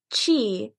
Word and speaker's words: Chi: looking that up um she calls it Chi which I think is the correct pronunciation but uh in the show Black Clover they also deal with that kind of you know energy source Life Energy Source but they call it key I'm pretty sure it's